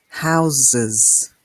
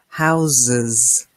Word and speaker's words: houses: We add the S and we pronounce the E. House, houses. Can you hear the difference? House, soft S, s, houses.